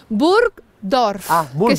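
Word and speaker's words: Burgdorf: de buror No sí buror Cómo se dice bur dorf dorf significa pueblo y burg significa Castillo es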